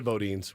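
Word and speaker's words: Boudin: we go down to Bodin we're getting our food and guy walks up because what's I pronounce it Budan but I don't know it's Bodin so boin bin so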